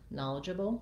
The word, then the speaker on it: knowledgeable: apple again knowledgeable um so the idja bull is the same in eligible and knowledgeable both have first syllable stress and different vowel sounds